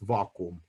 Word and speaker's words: vacuum: word vacuum vacuum okay in latin it's pronounced vacuum like in russian so and this is